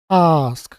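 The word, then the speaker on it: asked: यदि लग गया तो एस्केड हम इसे पढ़ेंगे लेकिन इसको प्रोनाउंस किस तरह से करेंगे आस्क करके ठीक है इस तरह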